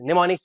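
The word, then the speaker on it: mnemonics: निमोनिक्स को ऐसे हम बोलते हैं एम वहां पर साइलेंट होता है।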